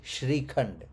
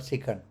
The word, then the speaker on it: Shrikhand: The correct pronounce is Shrikhand, not Srikhand.